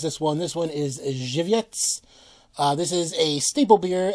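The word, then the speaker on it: Żywiec: Just kidding, I know how to pronounce this one. This one is Zhivets.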